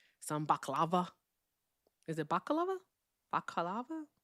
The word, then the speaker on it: baklava: Oh, so I was right cuz the other one with more syllables is the thing that you put over your face. Okay, got it. Baklava. I had it right.